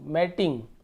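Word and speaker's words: matting: और टिंग मैट इंग मैटिंग ये क्या होता है मैटिंग य प डबल टी जरूर लिखा है लेकिन इसका उच्चारण हम टी करेंगे यानी ट मैट मैट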